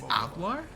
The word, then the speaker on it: hablar: what you're talking about do is H silent in Spanish it's not hablar three two wait wait is H spot silent in Spanish wait that kind of makes sense Ola no it's alar no what dude I